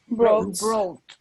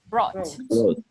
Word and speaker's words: brought: Brought. We don't pronounce the letter U. So we say brought.